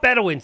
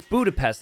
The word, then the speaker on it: Budapest: No, it's not Bedouins. It's Budapest.